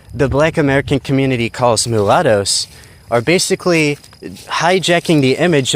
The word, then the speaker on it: mulatto: So like uh many of these people they call them the Mword that rhymes with avocados and probably might come from the word mule.